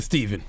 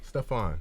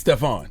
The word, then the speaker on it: Stephan: What's up, Is it Stephan or Stephen? Stephan. It's Stephan.